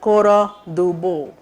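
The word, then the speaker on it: Cora Du Bois: She has to be called Bo, Cora Dubois. D is a small letter there. Pronunciation is important. For Indians, we make use of every letter that comes in front of our eyes. Don't call her Dubois. Cora Dubois.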